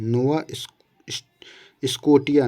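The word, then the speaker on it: Nova Scotia: फड़ी फड़ी फड़ी की खाड़ी में आता है नोवा स्कोटिया नोवा स्कोटिया इसको कहीं कहीं दिया जाता है इसका उच्चारण इसी तरीके से है विश्व का सबसे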